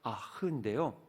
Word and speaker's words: Ach: 여기서 맨 끝에 ACH가 아흐인데요.